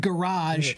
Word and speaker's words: garage: And garage is more closely pronounced the way the French pronounce it, not the British garage version.